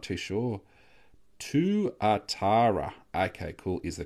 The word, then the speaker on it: tuatara: Euro I might do I'm not too sure to Atara okay cool is the correct pronunciation the New Zealand five cent coin lizard so what is it Tuatara Tuatara where is it I'll see if I